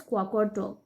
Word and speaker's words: Qaqortoq: The largest town in the southern Greenland is Qaqortoq. This is pronounced as Qaqortoq.